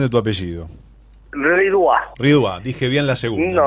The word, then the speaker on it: Ridois: Comentame cómo es la correcta pronunciación de tu apellido. Ridois.